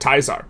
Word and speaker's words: Caesar: It's project teaser, but if you pronounce it correctly, it's of course project taizar.